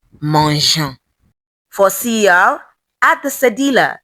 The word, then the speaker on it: mangeant: For GER verbs, add E for soft G. The French like things to be soft and not hard. So it's not mangeant. It becomes mangeant.